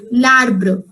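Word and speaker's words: l'arbre: just for an apostrophe if any french word is having apostrophe it is always pronounced with the next word together it is pronounced in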